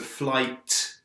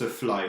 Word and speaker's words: flight: It's a flight. And remember, you must pronounce the t, flight, not a fly, ça c'est une mouche.